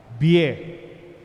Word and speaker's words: Bie: The same word, the same spelling, the same pronunciation.